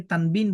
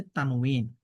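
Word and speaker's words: تنوين: আমরা অনেকে তানবিন বলি। এগুলো বিশুদ্ধ উচ্চারণ হচ্ছে তানউন।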